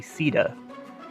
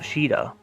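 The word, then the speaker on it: Caeda: said it wrong, because her name in English is actually Sida, and not Shida, like it is in Japanese.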